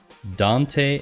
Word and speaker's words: Dante: in a platform called Dante AI or dant I think the first pronunciation is correct and so Dante AI